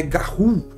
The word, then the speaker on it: Garou: Só que o próprio livro ele fala pra gente que a pronúncia correta é Garou, apesar de se escrever Garrous, tá?